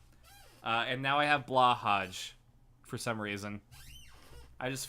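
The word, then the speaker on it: BLÅHAJ: it's pronounced Blaha The The J is silent it probably is but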